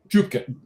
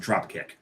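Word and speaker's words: Trübka: It is a Reisdorf Trubka. I was going to pronounce it Dropkick. No, it's not. It's Trubka. Trubka. DR. It's the umlauts over the O there. Trubka.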